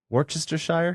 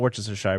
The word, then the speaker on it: Worcestershire: podcasting coach what was how do you pronounce that Worcester sauce Worcestershire it's not Worchester Shire but Worcester sauce damn you Arjun Zachary